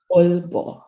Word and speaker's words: Aalborg: Dan penyebutan untuk Aalborg itu tadi adalah double A sebenarnya, double A. Jadi dibacanya Aalborg.